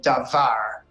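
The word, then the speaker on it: דָּבָר: as we've already discussed Hebrew words are accented or stressed on the last syllable as in our example davar but we are coming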